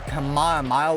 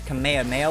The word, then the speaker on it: Kamehameha: They'll they'll call it the Kamaya wave or something, but it's technically listed the name is Kamehameha wave and when you when you use the attack it's Kamha.